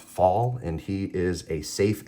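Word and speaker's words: Falle: were made by John fall um I call foul but his last name is pronounced fall and he is a safe expert and a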